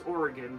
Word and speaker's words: Oregon: um so Oregon Trail Oregon or it's Oregon is how you pronounce it got that in a